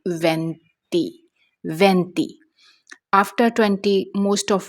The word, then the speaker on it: venti: 20 in Italian it's called venti.